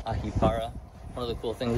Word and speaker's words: Ahipara: This is in Ahipara, as the locals say. We're saying Ahipara.